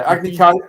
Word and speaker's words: Agni Kai: The fact that the Netflix series gets the whole Agni Kai, am I pronouncing that right? Yeah. Yeah, Agni Kai concept completely wrong.